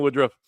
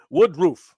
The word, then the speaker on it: Woodruff: Woodruff. It's pronounced roof, like roof of a house, but thank you. Wood roof.